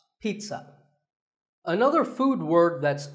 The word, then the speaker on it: pizza: did it's not a pizza and it's not a pizza there's no sound in this word it's Pete son pizza another food word that's